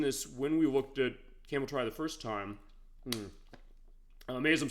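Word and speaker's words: Cameltry: But apparently it is pronounced the way it looks. So I want to correct that record. So camel tree is what I used to call it, but it's camel try.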